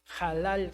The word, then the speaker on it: halal: entonces la la la la h se pronuncia como j halal su entonces esa la